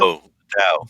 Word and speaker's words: Dao: How do you spell that? Dao.